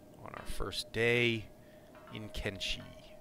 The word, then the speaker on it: Kenshi: our first day in kimchi or Konishi as I've heard it pronounced okay that's five they